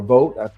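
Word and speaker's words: Vought: And of course, Russell Bot or Vote, I want to say he he says his name votes, although it's spelled B O I G HT, but Russell Vote, who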